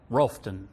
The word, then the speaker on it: Rutherfordton: So you would have started out in a little rural town in North Carolina spelled Rutherfordton, but yes. Pronounced what? Rolfton.